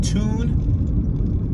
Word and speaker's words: Toone: going to be heading to the town of tune tennessee yes toontown it's spelled t-o-o-n-e yeah i thought that was pretty